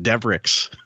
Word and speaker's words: Devereaux: a family call called their family name is Devereaux but like the friend you know it's which could be a Blanche it could yeah exactly yeah but they they literally pronounce it devrix that's funny yeah um